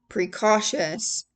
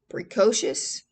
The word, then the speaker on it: precocious: As a boy, a grippa showed a precautious intellect. Precocious. P R E C O C I O U S.